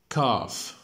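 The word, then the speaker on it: cough: كاف اليو جي اتش طبعا هنا ندقها اف.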